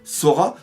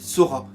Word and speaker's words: Sora: La mère qui, entre parenthèses, s'appelle Sora. Alors Sora ou Sola parce que le L au Japon, enfin le R au Japon se prononce aussi L.